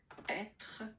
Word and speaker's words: être: How you pronounce? Which is the to be is quite used. To be. Languages is to be, être.